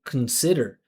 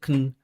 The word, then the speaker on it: consider: So, she said consider. Consider instead of consider. You hear I didn't pronounce the vowel. I just said con consider.